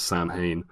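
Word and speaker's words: Samhain: school uh write sa which everybody in the film pronounces San hay on the Blackboard in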